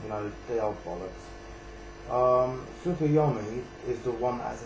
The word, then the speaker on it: Tsukuyomi: Red Eyes Darkness Metal Dragon, Spore, Tsukuyomi, I believe the T is silent in that, Ibagishki Gust Kraken, Ultimate Offering, and Wind Up Carrier Zenmighty.